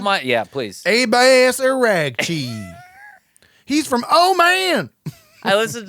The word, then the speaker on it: Araghchi: Abbas Araghchi. He's from man. I listen to the Tim Miller on the Bulwark sometimes, and he pronounced it Arashi. Arashi or Arachi. He said made it Italian.